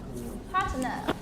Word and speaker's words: partner: Partner. It's a noun. That means đối tác. And the stress is on the first syllable.